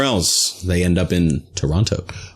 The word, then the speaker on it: Toronto: They end up in Toronto. Or Toronto, as the natives would say, because they're in a hurry. They only pronounce about half the letters.